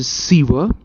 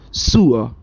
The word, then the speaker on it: sewer: students we always pronounce this word as a siever but we pronounce it wrong it is not siva its pronunciation is sewer so and he found the way in through